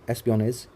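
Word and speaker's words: espionage: Okay, pronounce ऐसे ही किया जाता है, एस्पियोनेज।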